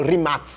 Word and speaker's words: Rimac: trás do remake nevera ou Remax TV que é como é a pronúncia correta da marca e do sobrenome dele